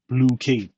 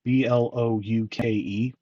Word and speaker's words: Blokees: Bad Toy Store, and they're the ones who are pronouncing it Blokees, Blouke.